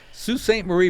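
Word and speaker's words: Sault Ste. Marie: I see the signal sue st. Marie Michigan and yes folk that's how it's pronounced the Coast Guard cutters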